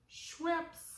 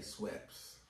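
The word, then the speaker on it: Schweppes: what it is and we was asking y'all how do y'all pronounce it so we say sweps I say sweps sweps ginger ale people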